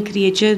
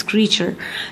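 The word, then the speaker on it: creature: ये क्रीचर है, इसको आपने क्रिएचर नहीं कहना, इट्स क्रीचर.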